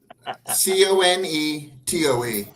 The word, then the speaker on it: Conetoe: H is silent. Okay. Potty Casey. Yeah. Potecasi. How about this one, Matt? Conetoe.